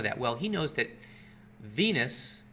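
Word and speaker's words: venous: Well, he knows that Venus vein rhymes with Venus penis.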